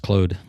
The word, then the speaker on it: Claude: Claude where he's I think it's pronounced Clode.